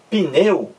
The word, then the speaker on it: pneu: Então, quando você pronuncia pneu, veja aí, você diz pneu, pneu, não é isso? Você demora mais no E. Pneu, ó. O U é pronunciado mais fracamente.